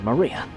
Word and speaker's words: Maria: is written like this of course this is pronounced Maria the third character looks like cross which is